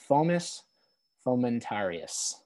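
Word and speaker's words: Fomes fomentarius: is known by so it's a um it's pronounced phomus fomentarius okay t-a-r-i-u-s okay and it just kind of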